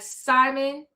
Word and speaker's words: Djimon: The D is silent. So like Simon.